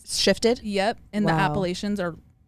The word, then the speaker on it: Appalachian: I see a lot of Appalachian stories on Appalachian. And I didn't know that wasn't like I was calling it that too, but then Appalachian is how you pronounce it.